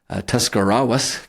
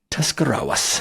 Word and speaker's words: Tuscarawas: German communal group that was found in nearby Tuscarawas County. Nice job. I said that right. Yeah, nice pronunciation. Tuscarawas, yes.